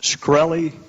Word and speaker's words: Shkreli: Is it pronounced Shkreli? Yes, sir.